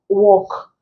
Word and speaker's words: walk: is on the line walk here the L is silent salt the L is